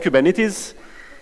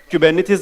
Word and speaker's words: Kubernetes: that's why we have Kuban it is Kuban it is it's a Greek word as you can see with the Greek characters that everyone mispronounces by the way the